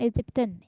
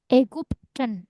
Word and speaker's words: Ägypten: Nah, tapi bacanya bukan Egyptian ya. Somen. Dia pakai A umlaut ya. Hmm. Bacanya Ägypten. Ingat U ya. Hmm. Lagi Entschuldigung. Upsilon dibacanya U. Pyramide Ägypten ya. Y di tengah menjadi U kalau bahasa Jerman bacanya.